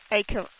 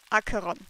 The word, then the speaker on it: Acheron: Akiran. Acheron.